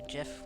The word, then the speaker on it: GIF: Like any gif or gif where they're punching Nazis.